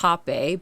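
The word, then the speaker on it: rapé: Technically, it's pronounced hape, but it's spelled rape in Brazil because the H and the R's are switched. So they say the R's with H, so it's like hape.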